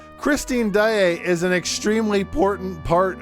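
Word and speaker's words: Daaé: No, I've heard of Christine Daae. Is that what you meant to say? You see how it has 2 A's and an E? That means you don't say it like...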